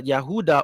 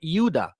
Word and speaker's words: Yehuda: the descendants of the Yehuda or Judah or euda which is the true pronunciation of Judah they all fell in